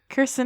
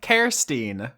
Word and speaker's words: Kirstine: Kirsten Hasslinger. Nope, Kirstine.